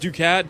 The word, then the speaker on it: ducat: In it's pronounced ducat ducat ducatti.